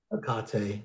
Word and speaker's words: Hecate: Interview with Hecate, goddess of the witches. Akate, Hecate, yeah. called lots of different things. That's the current Greek pronunciation, I think.